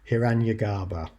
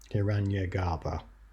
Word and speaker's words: Hiranyagarbha: Hiranyagarbha. Hiranyagarbha. I've said it in an anglicised way. Hiranyagarbha. Excellent. There you go. So you'll know about Hiranyagarbha.